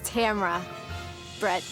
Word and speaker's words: Tamara Brett: And the correct pronunciation of my name is Tamara Brett.